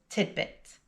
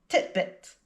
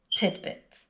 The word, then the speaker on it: tidbit: Regardless of the spelling though, the pronunciation is tidbit with the D sound in the middle. But even native speakers often make mistakes with this one and pronounce it titbit.